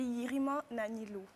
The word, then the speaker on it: Yirimanilo: Ça se dit Yirima Nanilo.